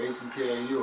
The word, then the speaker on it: Hekau: Like haiku, like H-E-K-A-U or different? That's in heka. Hekau. How you spell it? H-E-K-A-U. Hekau. Exact same thing.